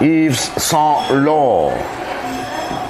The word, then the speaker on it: Yves Saint Laurent: T's here at the end of Saint and Laurent are silent. Yves Saint Laurent.